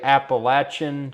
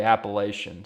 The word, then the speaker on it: Appalachian: Some people say Appalachin, some people say Appalachian. So that's that's the only thing from listening to this that I had a question about. Either is fine, but if it had